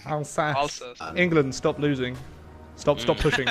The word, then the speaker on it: Alsace: It's not Alice Lorraine. Alsace.